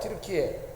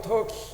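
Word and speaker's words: Türkiye: 티르키에. 영어로 읽으면 터키 이렇게 원래는 트리키에 이렇게 읽혀지고 티르키에가 맞는 발음이고요. 영어식으로 읽으면 터키에.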